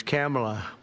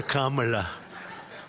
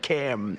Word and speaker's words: Kamala: It's Cam, right? Cam, as opposed to Carm.